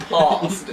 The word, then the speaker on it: pasty: With the Cornish accent, it's pronounced pasty.